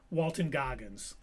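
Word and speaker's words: Walton Goggins: Walton Gogggins is now officially stand by not your status quo and fatherly fandom.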